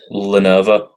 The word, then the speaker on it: Lenovo: Lenovo. That's how you pronounce it.